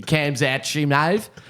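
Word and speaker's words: Khamzat Chimaev: Whitaker versus Hazmat Shimav. So how would you pronounce it? Well, I mean, if I was to spell it phonetically, it'd be Kamzat Shimaev.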